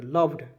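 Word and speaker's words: loved: लव लव य देखि लड लड लड नहीं पढ़ेंगे लव पढ़ेंगे लव्ड य मैं लिख दे रहा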